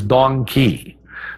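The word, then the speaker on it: dong quai: I can't forget its female counterpart which is donkey that's spelled d-o-n-g-q-u-a-i and Donkey is a great herb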